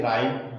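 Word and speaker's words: rhyme: तो इस वर्ड में एच लेटर क्या है आपका, साइलेंट है राइम।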